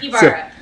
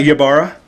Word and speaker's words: Ibarra: No. Ibarra. Ibarra, not Yabara.